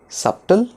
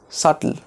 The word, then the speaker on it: subtle: Is it subtle? No, it is not subtle. It is subtle. Subtle. B in this word is silent.